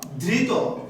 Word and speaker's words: ধৃত: এই জন্যই ধৃত এটার উচ্চারণ হবে ধৃত, অর্থাৎ এই ত এর শেষে যে অ আছে এই অটা সংবৃত হয়ে যাবে, ধৃত ধৃত।